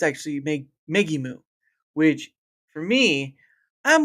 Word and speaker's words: Megimu: But I always kept saying Megami. But it's wrong. It's actually Megimu, which for me, I'm like, okay, all right.